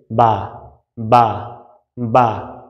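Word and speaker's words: باء: তো ওই জায়গা দুইটা একত্রিত করে যদি আপনি বলে দেন বা বা বা, তাহলে বায়ের সঠিক উচ্চারণটা এমনিই হয়ে যাইতেছে।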